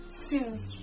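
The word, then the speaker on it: سر: First we have sir, meaning secret.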